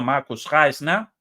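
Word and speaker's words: Markus Reisner: el coronel Marcus reisner o en alemán bien pronunciado Marcus reisner de las fuerzas armadas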